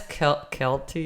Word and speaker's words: Kelce: Okay, I learned Travis Kelce is how you say it.